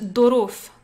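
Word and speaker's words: ظروف: Mais en derija marocain, on le prononce dorof, dorof. Avec un D, un gros D, dorof, les circonstances.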